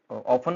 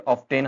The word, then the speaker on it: often: Common mistake आपको मैंने बता दी क्या होती है, ऑफ्टेन हम बोल देते हैं, जबकि यहाँ पे टी जो है साइलेंट रहता है, आपने इसको प्रोनाउंस नहीं करना है, स्किप करेंगे।